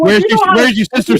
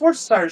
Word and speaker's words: Worcestershire: Hey, but it is entertaining to watch something say like, Oh, "Where's your sister sauce?" And you're like, pronounce it already off the rip. Yeah, okay, it's pronounced Worcestershire sauce.